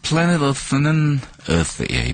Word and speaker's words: Planet Earth: 그래서 Planet Earth는 번데기 발음이기 때문에 쓰 발음을 해줘야 됩니다.